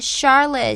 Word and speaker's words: Charlotte: it for me now she's in a charlotte chandelier so charlotte even though it starts with ch and traditionally it has a ch sound and this situation is